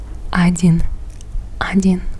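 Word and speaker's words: один: game in Russian isin ainin we pronounce it with an a a d i n Ain so if you were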